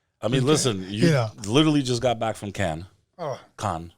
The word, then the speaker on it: Cannes: How do the French say it? Cannes. Cannes, yeah, Cannes. They don't pronounce the S.